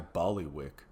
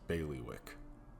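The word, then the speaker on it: bailiwick: got a tip for you not really my Bali Wick but it might be more your speed it's pronounced baileywick shut up Sam anyway this tip a smuggling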